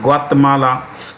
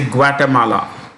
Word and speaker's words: Guatemala: they are pronounced okay we don't have to pronounce that way we could simply say nicaragua honduras you know um belize guatemala or you can say guatemala both are right so let's get on